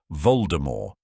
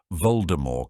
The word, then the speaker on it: Voldemort: is usually silent so the name should be pronounced anounced as Voldemort which literally translates to flight from Death however